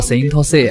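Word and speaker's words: Saint Seiya: 日语读作 Saint Seiya，我一直觉得这个发音好性感。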